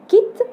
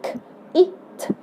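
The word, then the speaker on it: kite: يعني ما ينفعش اقول كيت، لان من غيرها كده، من غير الاي لو دارتها هقول ك ايت كيت. لكن لو حطيت الاي بقت كايت. الاي هتتنطق باسمها، يعني الاي خلت الاي الفاول في الاولاني، الحرف الكلمه في الاول اتنطق باسمه، اتنطقت اي باسمها، انما الاي اصلا صوتها اي.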